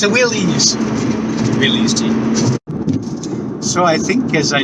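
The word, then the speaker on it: Willys: I know the correct pronunciation of that car I saw is Willie's Jeep, but that doesn't sound right. Willis. It's a Willie's. Willie's Jeep.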